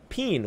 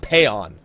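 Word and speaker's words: Paeon: It's not Payon. Payon is the other one. I say Payon. I say Payon just because Peen sounds fucking stupid, but it's more like Peeing.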